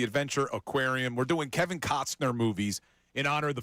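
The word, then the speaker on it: Costner: We're doing Kevin Cosner movies in honor of the Field of Dreams game tomorrow. Good job by you. Said it right that time. I had to really emphasize the T. Cosner movies.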